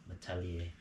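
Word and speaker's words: Malletier: Apparently, if it's T-I-E-R, you're supposed to pronounce it yay. Metalier.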